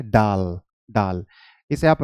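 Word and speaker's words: dal: pronunciation बता देता हूं आप इसे दाल नहीं बोल सकते आप इसे क्या बोलेंगे डाल डाल इसे आप रायता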